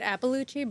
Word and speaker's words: Iapalucci: I say it Iapalucci, but that's not really Italian. I said Iapalucci. Yeah. Yeah, that's the mother slang. You would make my dad proud. Iapalucci.